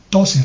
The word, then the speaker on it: Tozer: Se escribe T-O-Z-E-R. Tozer. Se pronuncia Tozer.